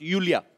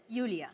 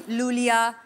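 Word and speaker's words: Iulia: यूलिया यूलिया आपका नाम basically यूलिया यू यस pronounce Yulia. Yulia. And yeah. The spellings are I-U-L-I-A. So I... Thank God matlab? You know. I mean, why Thank I? Thank God. Why? Everyone is calling me Lulia, Lolia.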